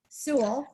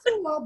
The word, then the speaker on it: Seawell: LinkedIn would be my name, and it actually looks like Sewell, SEAWELL, but it actually pronounced, I used to say rhymes with drool, Sewell, but it actually rhymes with jewel.